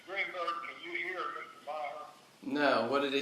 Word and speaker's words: Maher: I can't quite M-A-H-E-R. I pronounce that in my ears, but how do you pronounce it?